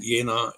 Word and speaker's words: Jena: It's spelled Jena, Jena, pronounced with the Jena, and in sort of in Thuringia, which is pretty close to Dresden, actually.